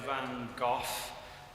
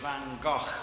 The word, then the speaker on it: Van Gogh: the name a bit I always say vanoff the Americans say vano and the Dutch say van go which I can't say so I'll try to